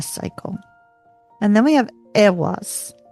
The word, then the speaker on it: Eihwaz: And then we have Eihwaz. Eihwaz.